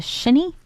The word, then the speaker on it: shinny: Yeah, and you said it's pronounced a shinny?